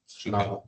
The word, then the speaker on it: Schnabel: Schnabel? Schnabel.